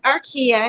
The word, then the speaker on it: Arkeah: about your journey hi everyone my name is arkia and yes you did pronounce it right i am the new faces